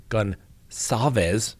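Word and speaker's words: Gonçalves: And they are denying telling the family of victim Kaylee Goncalves, that's right, soft C apparently, almost sounds like an S, that her injuries were more brutal than those of other victims.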